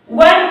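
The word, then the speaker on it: one: जैसे example वन आई, यानी कि अब यहाँ पे वन है, वन का प्रोनाउंसिएशन व हो रहा है, व, इसलिए यहाँ भी आर्टिकल ए।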